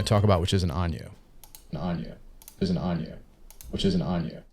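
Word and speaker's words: añejo: talk about in ano it's not pronounced Ana it's pronounced ano I know it's pronounced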